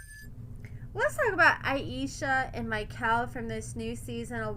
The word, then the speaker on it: Mikhael: Ayesha and Mikhael from this new season of Love During Lockup. I gotta hammer it into my head that his name is Mikhael, not Michael, because you guys already